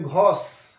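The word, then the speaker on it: grosse: तो last letter ई बन गया है बिकॉज़ स्पेलिंग क्या है जी आर ओ एस एस ई तो इसको हम लोग बोलेंगे घोस एस तक बोलेंगे फिर घ फिर घोस मीनिंग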